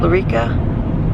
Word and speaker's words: Lyrica: injections we're going to talk about potentially starting larica is that how you say it yeah Lyrica um we'll see what he says this morning